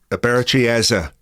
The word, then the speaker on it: Eberechi Eze: that surrounds I'm going to let the man pronounce his own name. Here it is. Aberi Eza that's going to take some getting used to.